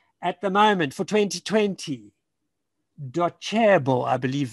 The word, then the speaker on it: Docebo: At the moment for 2020, Docebo, I believe it's pronounced, it's a cha, cha sound. Docebo is apparently, according to e-learning industry website, is the number one.